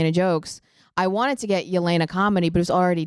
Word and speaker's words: Yelena: There's a Yolena in um and this is how people have finally figured out how to say my name is because there's a Yolena in the Marvel Cinematic Universe.